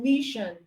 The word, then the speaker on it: mission: You can have ss as in mission. You can have ss as in mission.